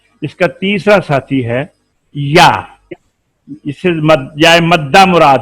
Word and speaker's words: یا: یا pronounced as یا using middle of tongue to touch the middle part of palates.